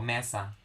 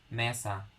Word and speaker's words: mesa: yeah that's unassumed knowledge for example mesa mesa you don't say mesa if it's mesa then there should have been an accent there but it since it's mesa